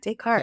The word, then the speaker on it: Descartes: Yeah, Descartes.